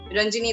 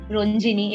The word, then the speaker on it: Ranjini: a content writer for a company in Pune, Ranjini. I hope I pronounced your name right. I meant to ask you. Hello, everyone. Yes. No, you pronounced it correctly. It's not Ranjini, it is Ranjini because, well.